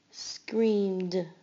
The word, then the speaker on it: screamed: Screamed. Screamed. You only hear the d sound at the end.